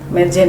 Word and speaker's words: Madzen: Medzen itu namanya tulisannya Madzen, jadi kita bacanya Medzen, artinya itu membuat menjadi cantik.